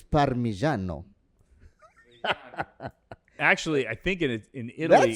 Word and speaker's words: Parmigiano: Okay, if you really want to say it correctly, it's Parmigiano.